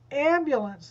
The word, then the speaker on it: ambulance: it's not the same ambulance that's the first syllable and then the last